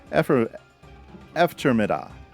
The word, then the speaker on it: eftermiddag: The G in Effermiddag is silent. So, Eftermiddag.